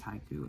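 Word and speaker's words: Haikoo: three of these and this is called haiku but it's not spelled like the Japanese haiku it's h i k o o Haiku drape and this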